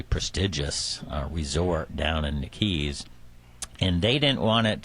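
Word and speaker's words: Keyes: People pronounce it Keys, Keys, Yaves down here, but it's Keys. Okay. Keep your eyes on Keys.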